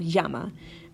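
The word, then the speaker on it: llama: a perfect example of this is the word Yama hey Yama like that like the animal Yama Yama can also mean calls like a yama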